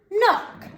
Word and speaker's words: knock: n is making so you've got to imagine that that k is silent you've got to imagine